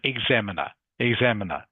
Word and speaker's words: examiner: All right, again, just another confusing English word, Jafet, I know, but it's pronounced examiner, okay.